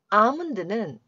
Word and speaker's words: almond: to almond라고 나왔는데요 우선 아몬드는 말 그대로 견과류 아몬드를 의미합니다 참고로 중간에 L 발음이 나지 않습니다 그냥 이렇게 되고요 help